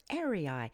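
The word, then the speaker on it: Errai: is a star known as Gamma cephei or airii that's spelled e-r-r-a-i and it points generally northward oh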